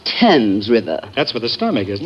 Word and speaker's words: Thames: I shall probably end it all by leaping into the Thames River. Oh, Mr. Marx, it's pronounced Thames River.